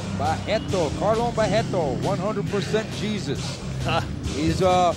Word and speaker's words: Barreto: And the R's in Brazil you pronounce as H, so you will say Barreto. Barreto, Carlos Barreto, 100% Jesus.